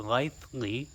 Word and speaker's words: Litheli: and on the Lively it's pronounced the Lively website either way you want